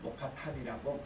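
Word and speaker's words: Mokattam: 이 동굴교회를 모카탄이라고 그 나라 이제 그 발음으로 그렇게 얘기합니다. 이 동굴교회가 어떻게 생겼느냐?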